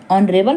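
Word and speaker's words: honourable: अब देखिए यहाँ भी एस साइलेंट है तो रक्तिम एक ऑनरेबल पर्सन है, ऑनरेबल व्यक्ति है।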